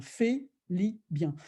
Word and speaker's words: Félibien: Parce que dans le système français à la Félibien, ça s'écrit F-E-L-I-B-I-E-N, avec un accent aigu, hein, Félibien.